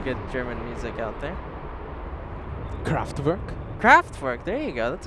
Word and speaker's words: Kraftwerk: No, you can't pronounce anything right. Come on. It's Kraftwerk.